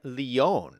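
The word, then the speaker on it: Lyon: to look Jesse says lion is a French city produced kind of like Leon oh am I saying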